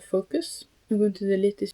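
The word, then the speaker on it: Foqos: You can see it's spelled Focus. F O Q O S.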